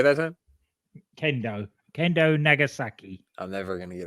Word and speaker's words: Kendo Nagasaki: Kenzo Nagasaki. He can't be stopped. Did I say it right that time? Kendo Nagasaki.